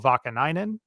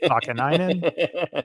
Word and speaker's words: Vakanainen: to Anaheim for Urho Vakanainen, which is, I believe, how you say his name. Definitely his last name. I'm not sure about the Urho or Urho, but let's call him Urho Vakanainen.